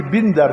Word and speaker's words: بندر: پہلی بات تو یہ کہ تلفظ تم غلط پڑھ رہے ہو، یہ بندر ہے، بندر نہیں ہے، زیر ہے.